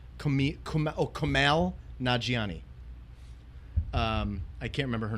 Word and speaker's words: Kumail Nanjiani: You got Tina Fey, Kevin Hart, Camille Nanjiani, and How do you say his name? Kumail Nanjiani.